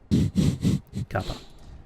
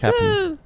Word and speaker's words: Kapan: I think the locals pronounce it Kapan. Kappa. It's Kapan.